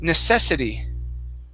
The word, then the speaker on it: necessity: the word necessity so our stress is right here necessity okay woman there you